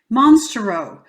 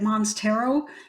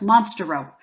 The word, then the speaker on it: Monstarot: row now I know some people say it mons tarot but it's the one time that I think the French pronunciation makes sense because it's monster robe guys monster rope okay so anyway it's